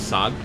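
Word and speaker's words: saag: can give you guys an example for is sag. Sag, okay. Sag, so how do you spell that?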